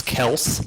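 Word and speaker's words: Kelce: but the dude's still a stud and travis kels because that's apparently how you pronounce his last name kels oh uh he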